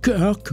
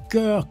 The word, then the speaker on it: Kirk: Ouais, j'ai décidé de ne plus dire George Kirk. Ça c'est des espèces de prononciation fossile. La première fois, tu vois ça puis tu le Ça fait des années que j'avais Kirk Kirk Kirk Kirk. Ben non, maintenant on va dire George cœur que ce sera quand